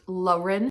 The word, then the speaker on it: Lauren: about a girl named Lauren Lauren I'm going to say Lauren because in the book she says it's pronounced luren I don't know I